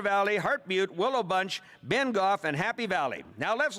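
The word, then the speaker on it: Bengough: The participating urban municipalities are the towns of Rock Glen, Willow Bunch, Bengo, is it Bengo or Bengoff? Bengoff? Sorry, okay, Bengoff, and Cornack.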